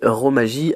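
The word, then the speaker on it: romaji: un H au début, katakana comme ça se prononce et Romagie avec J I à la fin.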